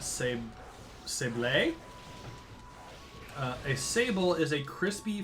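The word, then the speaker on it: sablé: Zawawa Sable, or because there's an accent on it, Sable.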